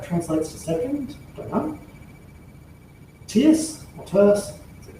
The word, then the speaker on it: tierce: And so the two principal parries we're going to look at are tierce and quarte. Tierce, or I should say tierce as in tertiary, because it is 3, and then quarte or